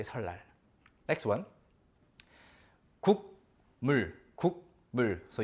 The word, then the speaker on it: 설날: Your tongue is touching the ceiling of your mouth, inside. 설. And then you have to, drag it out of there and then place it between upper and lower teeth. 설날. It's so much work. So people just say 설날, 설날. Okay? So 설날 is the Korean New Year's Day. 설날. So 설날. This is how it is always pronounced.